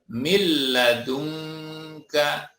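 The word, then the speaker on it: مِن لَّدُنكَ: Kita pun membacanya min ladunka, dibaca milla, mil ladunka.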